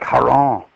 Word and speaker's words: Heron: Last name is Heron, was probably pronounced like Haron, but we call it Hero. I don't know why.